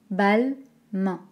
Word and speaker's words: Balmain: première et balmain hockey balle main al balle main comme la main balle mais ça va